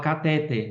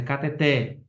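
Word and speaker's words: cateter: errada um exemplo ó muita gente fala catet mas é cateté né Eh outra Ai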